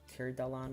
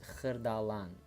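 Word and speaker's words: Xırdalan: I think it's like you say it like Khirdalan or whatever, but proper way of saying the city is Khirdalan, Khirdalan, Khirdalan.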